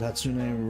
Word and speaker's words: Hatsune: You said Hatsune right.